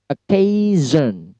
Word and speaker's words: occasion: Kemudian visible. Visible. Pada V-nya di stress. Kemudian occasion. Occasion. K-nya yang di stress. Occasion.